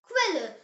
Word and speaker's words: Quelle: The example word is Quelle.